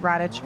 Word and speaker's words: Radic: Pronounced Radic, but it's R A D I C. That's how it's spelled.